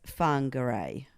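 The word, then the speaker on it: Whangarei: we've been sent as closest approximation is fun gray yes I think that sounds right so people who are from hopefully I did pronounce that close enough people are from fine Garre we apologize for Michael pronouncing it with a wank at the start because apparently not and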